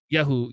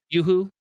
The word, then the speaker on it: Yoo-hoo: That's like the fucking reason you were official drinking drink Yahoo. Yahoo. How do you say that? Yoo-hoo? Yoo-hoo. There you go. Yahoo is a search engine.